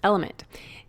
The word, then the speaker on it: LMNT: sponsors lmnt element it's spelled l MNT but pronounced element if you haven't heard about this element is